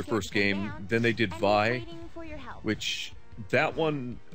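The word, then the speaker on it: Vay: No, I was talking about Vi, or V-A-Y. It's actually pronounced Vi.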